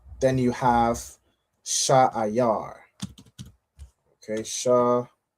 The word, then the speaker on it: Seir: All right, it's pronounced Sha'ayar.